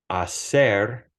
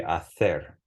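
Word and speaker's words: hacer: in another video but the Acer makes an S sound even though it's spelled with a c a ser unless you're in Spain that would be ather right but it'so notice that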